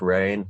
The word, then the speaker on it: Reyne: pronounce your real name my real name man is pronounced rain like the weather yeah my parents just